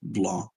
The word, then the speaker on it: Blanc: Also, my username is pronounced Blanc, like the C is mute.